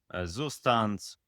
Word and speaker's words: Zustand: For example, if you use Redux or any other data store, Zustand, or what was the pronunciation for that? It's German. Zustand.